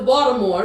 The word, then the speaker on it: Baltimore: when I moved to Baltimore see I said more the t is pronounced like a d That's Right spell this